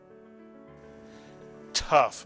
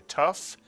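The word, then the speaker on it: תו: If there's a Dagesh in the Tuf, it is pronounced T for Tuf. If you take the Dagesh out of the Tuf, it is still pronounced as T, Tuf.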